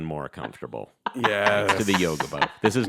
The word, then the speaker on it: Yogibo: Yogi, Yogi. like the bear, bo, B-O. And I'll tell you, my sloth-like behavior has become even more comfortable Yes. to the Yogibo.